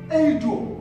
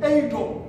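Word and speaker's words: εἴδω: So family, the word no is pronounced eido, eido in Greek.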